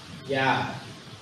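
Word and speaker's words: יד: move on all right the Hebrew word is yah yah y a d yah it's not it's not y it's yah y so yah that's how you pronounce it oh okay yeah I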